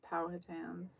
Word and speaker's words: Powhatan: I don't know how to pronounce this word. Powhatans? History videos where people talk about it. He said Powhatan. Sounds like there's multiple ways to say it.